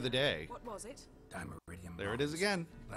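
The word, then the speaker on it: dimeritium: di meridium bombs lamber he just pronounced it D meridium I was calling it demetrium I can do that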